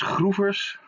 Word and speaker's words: Schroevers: First, my name, it's pronounced as Šhruvers in the Dutch language.